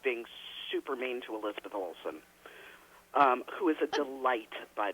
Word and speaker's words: Olsen: It's Olsen. part of Taylor Sheridan. Oh, what did I say? Yeah, Are you making fun of me, Ren? You said it right. Elizabeth Olsen.